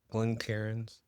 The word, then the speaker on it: Glencairn: So we are using, semi-classic Glencairns.